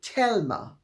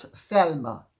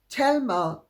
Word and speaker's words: Thelma: an identical twin called Telma not Thelma Thelma it's spelled Thelma but pronounced in the Spanish way Telma was Gloria seniors big